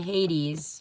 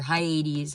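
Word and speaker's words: Hyades: then I went to Hades or high 80s however you want to pronounce it which is in the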